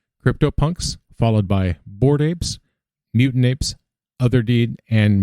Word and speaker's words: AIP: improvement proposal or aip you pronounce that and it's ape so that's what i'm